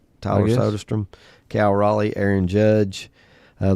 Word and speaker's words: Soderstrom: Soderstrom. Tyler Sodestrom.